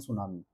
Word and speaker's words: tsunami: T silent रहता है। ठीक है? लेकिन इसको पढ़ते हैं सुनामी।